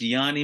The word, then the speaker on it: Giannis: help me I think I think it's pronounced Yanni Milan Yani yes yes and uh I